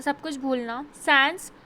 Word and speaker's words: sans: Sans, pronounced like sun, a French word meaning without.